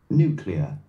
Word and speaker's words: nuclear: 사전에서 지금 어떻게 발음하는지 한번 들어보시겠습니다. Nuclear, nuclear.